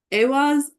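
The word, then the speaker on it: Ehwaz: Awaz. The stress is on the first syllable.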